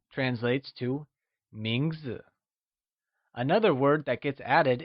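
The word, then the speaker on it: 名字: word name translates to mingzhu let's look at its pronunciation mingzhu is pronounced with the mid rising tone let's hear you say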